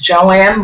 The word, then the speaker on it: Joan: the book that says her name is spelled differently in different places, but it's always pronounced Joanne.